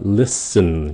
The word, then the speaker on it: listen: Cái chữ listen các bạn để ý này nha, listen, cái chữ T nó là câm, cho